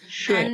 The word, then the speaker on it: schön: ওকে, schön, kein Problem, kein Problem, schön, ও এর শোয়েন, উচ্চারণটা ও এর মাঝখানে হবে, schön, শোয়েন, ইয়া, রাইট, সুন্দর।